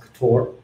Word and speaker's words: Ktor: Welcome everyone to this talk on Ktor, otherwise pronounced Ktor.